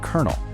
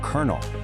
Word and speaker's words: colonel: Meet our old friend, Colonel. There's no R anywhere in that word, but that's the sound we make. The first O is silent. The second O sounds like a U, and that L magically turns into an R.